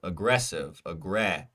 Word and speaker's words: aggressive: Aggressive, ressive. Second syllable, aggressive. Aggressive is our correct choice.